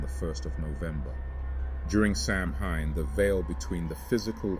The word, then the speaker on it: Samhain: Samhain, pronounced Samhain, holds deep spiritual significance as one of the most sacred festivals in the Celtic calendar, symbolizing transition, death, and renewal.